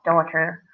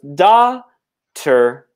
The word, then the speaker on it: daughter: how do we pronounce daughter yes so daughter we pronounce doctor so no you know G no H so it's just da tur as we've written here